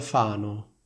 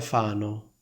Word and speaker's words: Fano: E l'altra frase potrebbe essere vive a Fano. Sentite la differenza tra queste due frasi? Molti fanno questo errore. Vive a Fano. Fanno, Fano.